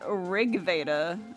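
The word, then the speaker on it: RG Veda: The title itself is pronounced Rigda.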